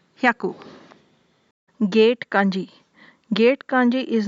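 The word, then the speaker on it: 百: Or, as I said, it might have come from the similar pronunciation of shiroi. Shiroi onyomi is haku or byaku. 100 is called as hyaku.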